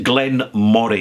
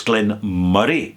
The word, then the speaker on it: Glen Moray: It's not Glen Moray, it's Glen Murray. Well, why has it got an O and not a U?